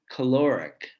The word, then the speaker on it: caloric: lot of these words like calorie calorie first syllable stressed but if we turn it into an adjective we end up with caloric caloric and this change